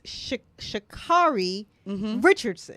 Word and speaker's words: Sha'Carri Richardson: From the Olympic trials in track and field, you have Miss Sha'Carri Richardson.